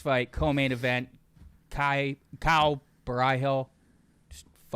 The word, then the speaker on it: Borralho: I think I I think Caio Borralho. Say it like that. Borralho.